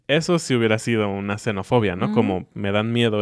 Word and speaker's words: xenofobia: comunes primero está la xenofobia con x pero se pronuncia suave xenofobia que es el miedo